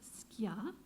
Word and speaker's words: ska: I noticed that Jamaicans pronounce it skia, which makes it sound a lot more like the music.